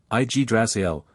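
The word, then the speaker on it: Yggdrasil: threer vair a giant visited by Odin igdrasil IG drael the world embracing ash tree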